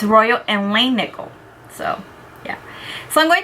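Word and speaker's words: Royal and Langnickel: for today I'm do I'm going to be using my Royal and Lan nickel I've been saying it wrong you guys and I had the opportunity I got the opportunity to do a video with them and I can't wait until it's released and I can show it to you guys it's really nice and exciting so they told me I've been saying it wrong so it's Royal and Lane nickel so yeah so I'm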